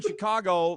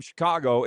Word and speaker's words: Chicago: We were in Chicago last year, which if you know anybody from Chicago, it's one syllable. Chicago. One syllable. Nope. Chicago. It's not Chicago.